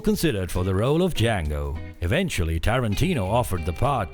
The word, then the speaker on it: Django: for the role of Django. Eventually, Tarantino offered the part to Jamie Foxx. The D is silent.